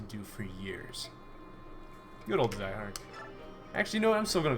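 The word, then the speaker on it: Zihark: you how to pronounce Zyhark's name, right? They're like, no, don't pronounce it Zehark, pronounce it Zyhark.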